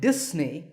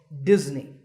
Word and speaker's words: Disney: If you said Disney, that's the mistake. The S in the middle is actually a Z sound, as you can see in the pronunciation symbols on the screen. So it's Disney, remember that.